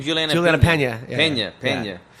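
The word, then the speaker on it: Peña: Juliana Pena.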